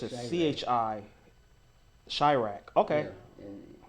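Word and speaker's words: Chi-Raq: There was a movie made about him called Chirac by Spike Lee. Call what again? It's called Chirac. How you spell that? Chirak. dash RAQ, like Iraq, but Chicago. Oh, okay. So it's a Chirac.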